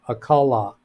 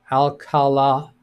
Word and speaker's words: Alcala: Ida says, I think it's pronounced Alcala with emphasis on the last syllable. Alcala. Alcala.